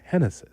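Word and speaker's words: Génesis: Cabrera Genesis Cabrera right now he's got three Harry. Yeah, it's Henness.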